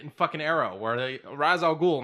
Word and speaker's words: Ra's al Ghul: That being said, everybody that says Raz Al Ghul, you're wrong. It's Ra's al Ghul, because it's a real fucking word, not just a name.